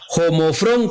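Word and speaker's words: ὁμόφρων: Ahora la palabra que utiliza Pedro aquí es la palabra griega 3675 y se pronuncia homofrón, que significa el mismo parecer, de igual mentalidad,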